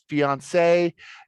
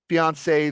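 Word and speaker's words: fiancée: got engaged divorced fiance fiance now these two words they're pronounced the exact same way but they've got one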